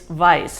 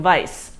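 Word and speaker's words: Weisz: to pronounce it it's Vice apparently it is a Hungarian name or of Hungarian origin so it's Rachel Vice so anyway she stars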